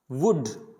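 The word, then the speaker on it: would: वुड, शुड, तो यहाँ पे जो L आ रहा है ये L क्या होगा, साइलेंट होगा, तो इनको पढ़ा जाएगा कुड, वुड।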